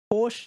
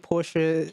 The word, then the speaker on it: Porsche: a c than me Porsche is what British people say yeah I think American I think porsa is more accurate to the German pronunciation but it doesn't sound German is it like when